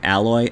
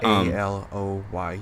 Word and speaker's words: Aloy: All of them, especially what's her name, Alloy. I keep saying Alloy, but yeah, it looks like it's spelled like Alloy, Alloy, but Aloy, yeah, something like that.